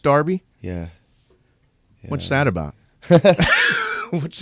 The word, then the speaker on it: Derby: Derby County no wait it's spelled Derby it's pronounced Derby yeah what's that about what's the deal with